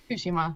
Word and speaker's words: Tsushima: Tsushima? Tsushima.